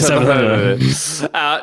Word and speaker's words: Savathun: It's pronounced Savathun. No, it's just the coolest thing.